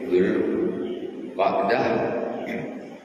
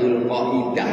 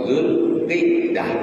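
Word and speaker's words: ذو القعدة: muharram war rajab zul jangan membacanya zulqaidah Enggak ada Zulqidah. Zulqidah. Kalau kita biasanya kan Zulkaidah kan gitu kan. Zulkaidah tidak salah. Yang betul itu Zulqdah atau Zulqiddah boleh dua saja.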